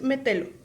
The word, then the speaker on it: Metelo: Según yo es Metelo. Pero, porque no lleva tilde, las esdrújulas se llevan tilde, pero no sé, mi pronunciación es muy mala.